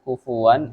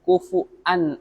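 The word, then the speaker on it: كُفُؤًا: walam yakul lahu kufu'an ahad. Bukan pakai wa, tapi pakai hamzah.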